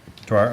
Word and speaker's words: Dwyer: Dwyer Properties, am I mispronouncing that? Dwyer, okay, thank you.